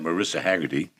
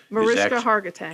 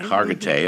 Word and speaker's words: Mariska Hargitay: The recent news is the revelation that Marissa Haggerty, Mariska Hargitay. Hargitay, I have to say it right.